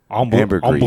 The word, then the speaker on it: ambergris: Ambergris is how that's pronounced.